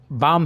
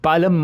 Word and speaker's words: बाम: ये L silent है तो यहाँ पे बाम ही पढ़ना है इसे दोस्तों, ये बालम मत पढ़िए।